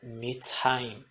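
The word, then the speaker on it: מצרים: Então, por exemplo, temos aqui a palavra Mitzrayim, que significa Egito. Mitzrayim. Veja que a sílaba tônica é Urá.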